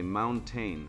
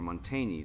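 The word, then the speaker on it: Montaigne: Say mountaine for monteny to a French speaker.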